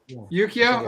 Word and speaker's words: Yukio: The artist is, I always want to say Yukio Smith, but I know that I'm mispronouncing the gentleman's name, but he was nailed it, actually. What's that? I think you nailed it, actually. Yukio?